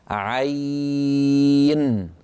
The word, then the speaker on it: عين: عين هذا لو تأملناه، تأملوا عين، تصوروها مكتوبة أمامكم ونحن ننطقها عين. عين عين هي عبارة عن ياء ساكنة مفتوح ما قبلها العين، لأنه العين مفتوحة بعدين ياء ساكنة، هذا حرف لين، هذا حرف لين.